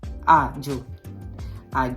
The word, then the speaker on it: Àajò: Àajò, yeah. Like I said, Àajò, don't forget. So once you just want to pronounce Àajò and you don't know how to pronounce it, just say do.